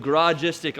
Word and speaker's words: Garagistic: the biggest one check this out we have garage istic on the side if you're wondering about pronunciation it's Garage istic Nagaraja sticks not a